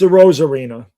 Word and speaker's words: Arozarena: It's Arozarena. That's how you say it.